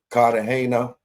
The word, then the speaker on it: Cartagena: I've been covering the TA, the legend, aka Terrence Dixon, versus Joseph Cartagena if you're from America, but it's Cartagena.